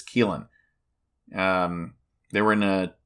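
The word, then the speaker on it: Caoilfhionn: Leapori is Keelin Dunn and that's spelled C A O I L F H I O N. And I looked up the pronunciation. and it is Keelin.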